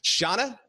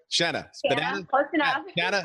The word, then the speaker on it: Shanna: and today we have Shauna the right Shanna Shanna that's right it rhymes with banana after graduating college